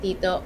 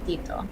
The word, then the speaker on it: tito: When you say tita or tito, there's no puff of air like in English.